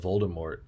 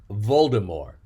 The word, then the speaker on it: Voldemort: word for death so technically it's not mort it's more so his name is officially voldemort but we americans we like to put a hillbilly twist on everything and we we pronunciate that t voldemort but it was voldemort originally um nope nobody knows